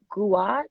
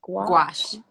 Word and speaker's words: gouache: with is watercolor uh how do you say gouache gouache gouache yeah yes gouache acrylics and you know of